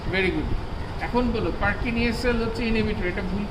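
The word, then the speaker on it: Purkinje: এবং এই সেলগুলো, এগুলো হচ্ছে এদিকে থাকবে cellular layer, outer molecular, middle পার্কিনজি layer, মানে পার্কিনিয়া, আসলে উচ্চারণ তো পার্কিনিয়া, আর আর ইনার গ্র্যানুলার লেয়ার।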